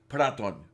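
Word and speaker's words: Протон: The way you spelled it, it sounds like it ought to be proton. Yeah, I mean the letter, the Roman equivalents of the Russian letters used are Proton. It is pronounced Praton.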